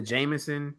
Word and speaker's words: JMSN: I listen to Jameson. You spell that JMSN.